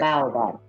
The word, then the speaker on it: Baobab: Baobab.